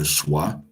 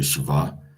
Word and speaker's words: schwa: Okay, this is a um this is a schwa. Sometimes people say shiva and it denotes a